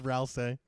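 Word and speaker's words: Rouxls: I can't believe I pronounced it Rousey this entire time and it's Rousece.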